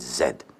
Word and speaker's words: zed: state of Massachusetts then you would pronounce the last letter of the alphabet Z but no you pronounce it zed.